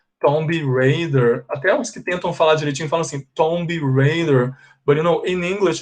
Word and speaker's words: Tomb Raider: then they say like zombie heider zombie raider attack tomb raider but you know in english it's incorrect okay you don't say like this because you don't pronounce the b and you say tomb so you say tomb